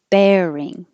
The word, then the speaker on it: bearing: your voice vibrate regime bearing and the vowel is bearing repealed repealed treatment and